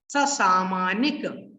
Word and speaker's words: ससामानिक: फिर यहां से पढ़ेंगे सा नहीं है ये, इसको कैसे पढ़ना है देखो मैं बताता हूं। ससामानिक, ससामानिक, ससामानिक, फिर परिषत्काः, ससामानिक परिषत्काः।